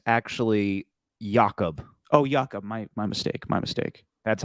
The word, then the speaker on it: Jakob: He has been released, and they're going with Jacoby Jacobs, the old fullback in New England, to come to the Raiders. It's actually Jakob.